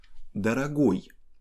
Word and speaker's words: дорогой: Дорогой has stress on ой, but letter G is kind of special.